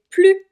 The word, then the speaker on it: plus: Ici, on va pas prononcer le S, on va dire c'est plus difficile que je le pensais. C'est plus difficile que je le pensais, parce que le mot qui suit commence par une consonne.